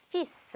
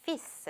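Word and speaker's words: fils: 를 읽어 주고 있어요 자 예외적으로 요 아들이랑 단어 발음 은요 피스 라고 있습니다 예 빠름은 없고요 뒤에 s 바람 해주시면 되요 그래서 피쓰 라고 읽습니다 따른 뭐였죠 또 다른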